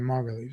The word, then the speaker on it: Margulies: So I did pronounce it right then, Margulies.